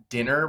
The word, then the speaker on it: DNNR: Hey everyone, I am here today with Rae Lambert, and she is building an app called Dinner, which is spelled DNNR, and it is super exciting.